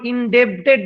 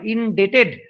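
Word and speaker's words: indebted: আই এম, দেখো, আই এম ইনডেটেড, আই এম ইনডেটেড, উচ্চারণ ইনডেবটেড নয়, ইনডেটেড। বি এর উচ্চারণ হয় না, বিটা সাইলেন্ট।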